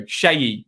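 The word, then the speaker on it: Sheyi: Shayi. Remember it, like Shayley.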